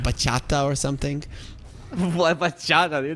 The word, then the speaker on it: bachata: But it's spelled B-A-C-H-A-T-A, and it is bachata.